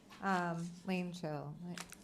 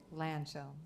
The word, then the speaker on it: Lanchel: Is it Langell? Lanchel. Am I saying your name correctly? Landfill, it's pronounced with an H in there. Lanchel.